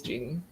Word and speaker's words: Jeannie: Is it Jenny or Jeannie? Did I say it wrong? I think it's Jeannie. Sorry. I think it's Jeannie. You're right. It is Jeannie.